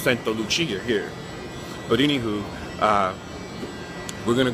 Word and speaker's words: Santa Lucia: So, or we would pronounce it Saint Lucia, but it's Santa Lucia here.